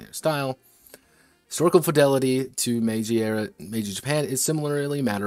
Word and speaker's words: Meiji: Meje? What's the correct pronunciation? I don't know fucking Japanese. Meiji? Yeah, Meiji.